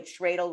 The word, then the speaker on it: Tradle: By the way, Tradle rhymes with dreidel or cradle.